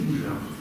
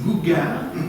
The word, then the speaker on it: Gougeard: Et ils ont un gros problème en Australie, les Australiens, les Anglo-Saxons, ils ont un gros problème pour prononcer Alexis Boujard. Alors c'était Alexis Bougard, Alexis Bouger, donc ils ne savaient pas trop.